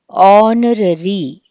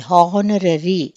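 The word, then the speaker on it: honorary: అలానే మనకి ఆనరరీ అని చెప్పి పలకాలి. హానరరీ అని చెప్పి మనము పలకకూడదు.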